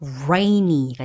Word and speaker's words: rainy: 발음을 유념해 주셔야 되는데요 r이 혓바닥이 말려서 올라가요 뒤로 꼴딱 삼켜질 정도로요 rainy가 됩니다 그렇게 하면 버터